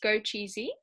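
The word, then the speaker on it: 枸杞: In Chinese medicine, it's pronounced go cheesy, and these ones are dried.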